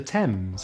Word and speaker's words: Thames: technology mechanic chaos ache sometimes the h is silent in th such as thailand time asthma thomas and the thames as in the river